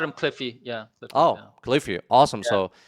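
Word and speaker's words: Cliffe: The name, the Yeah, second name is called, it is pronounced Cliffy.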